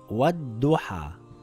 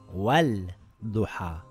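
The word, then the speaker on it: وَالضُّحَىٰ: The lam becomes silent and it will read wad-duha and not wal-duha.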